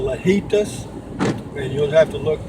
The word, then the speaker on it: Lajitas: It's called Lajitas, and you'll have to look that up. It's L-A, and then J in Spanish is pronounced H. Lajitas. I think it's L-A-J, H-I-T-A-S, I guess. I'm not sure. L-A-J-I-T-A-S.